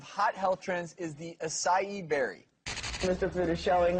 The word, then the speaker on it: acai: So the berry's pronounced acai, even though it's spelled A-C-A-I.